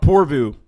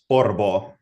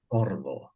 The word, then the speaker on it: Porvoo: you say is it so it's not povu like an English person like me would say it's porvo porvo kind of like or ofir but not really but not really anyway